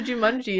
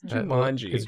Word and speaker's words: Jumanji: We have to jumani it. Is that how it's pronounced? Why does that sound weird? Jumanji.